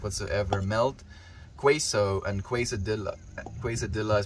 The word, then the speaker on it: quesadilla: Quesadilla is pronounced quesadilla and queso.